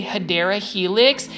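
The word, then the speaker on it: Hedera helix: first started doing plant shopping videos I was mispronouncing it it's supposed to be hadera Helix and for some reason some of my plant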